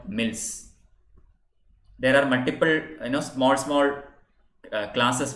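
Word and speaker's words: misls: Jathas and later called mills. There are multiple, small classes within the Sikhs, and these are known as mills. M-I-S-L-S, the S is silent.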